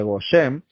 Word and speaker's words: Goshen: Pero así como Hashem guardó a Israel mientras estaban cayendo los golpes, y en Goshen, que es la palabra en hebreo se pronuncia Goshen, ahí siempre había protección, había provisión.